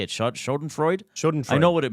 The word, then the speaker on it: Schadenfreude: Schadenfreude?